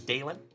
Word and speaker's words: Dalen: My name is Dalen, also known as. And my name is spelled D A L E N, like Dale plus N.